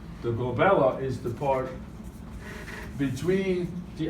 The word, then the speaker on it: glabella: And it rhymes with my daughter's name, Isabella, and is always on the test because of that.